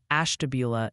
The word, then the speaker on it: Ashtabula: It's apparently Olean for Olean, New York, and emphasize the Ashtabula in Ohio. Keep up the good work wrangling those vowels. Isn't it Ashtabula?